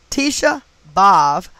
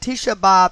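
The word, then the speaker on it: Tisha B'Av: apart is known as above using this cipher tisha bhav psalms 2 9 11. and tisha bob is spelled t i s h a b apostrophe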